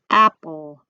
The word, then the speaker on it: apple: Apple. An apple has an E on the end. It's silent, but it doesn't give any power to anything.